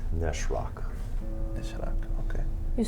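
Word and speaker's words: Nas'raq: Nezrak. It was pronounced Neshrak.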